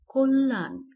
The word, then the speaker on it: কল্যাণ: উচ্চারণ কি হয়েছে বর্ণ এরপরে রয়েছে কল্যাণ সঠিক উচ্চারণ কল্যাণ প্রায়শ্য এটি পরীক্ষায় আসে আমরা ভেঙে উচ্চারণ করেছি